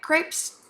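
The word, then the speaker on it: crêpe: today we're gonna make crepes technically pronounced CREP but I'll get over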